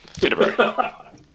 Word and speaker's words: Thibodeau: Except I'll switch the letters around so that they are spelt the way I pronounce it. Thibodeau.